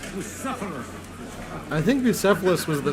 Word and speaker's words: Bucephalus: What kind of name is Bruce Phallus, anyway? Pronounced Bucephalus.